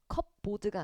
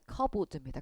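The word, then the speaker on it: cupboard: P는 묵음이에요. 발음이 안 돼요. 컵보드가 아니라 커보드입니다. 커보 커보.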